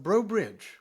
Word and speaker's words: Breaux Bridge: Man, you're from Breaux Bridge, Yeah, Louisiana, originally. I think I got that pronunciation correct.